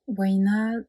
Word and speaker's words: Uhaina: Waina, c'est un nom basque, ça s'écrit Uhainaa. Moi j'ai mis 2 A, normalement il n'y en a qu'un, mais pour la vibration j'aimais bien qu'il y ait 2 A.